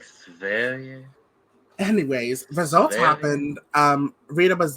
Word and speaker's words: Sverige: That's kind of disrespectful because it's I prefer the pronunciation to stay in Belgique. Now that we know how to say Sverige, I'm like, Sverige.